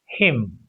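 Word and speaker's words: hymn: C o l u mn is silent column h y m n is silent him.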